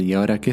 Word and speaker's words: Y ahora qué: de Y ahora qué la pronunciación correcta de Y ahora qué sería Y ahora qué O sea se tiene que hacer énfasis en la pregunta de Y ahora qué